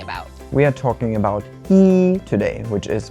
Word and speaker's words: 一: So whenever it's used as a number, it's just a plain first tone, E. But when we pair this with other words, then it changes sometimes. For example, when we pair it with a fourth tone, then E all of a sudden becomes a second tone.